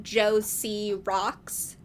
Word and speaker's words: JOCROX: And there's speculation as to what this name is and what it means and how it is meant to be pronounced. I believe one of the messages compares Mia to Josie and the Pussycats, so I think we decide that the screen name is probably Josie Rocks, like Josie Rocks.